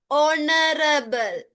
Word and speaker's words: honorable: H is silent, H is silent. Okay? When we are reading this, the pronunciation, අපි මේක කියවන්නේ කොහමද? It's not honorable. It's not honorable. It's honorable.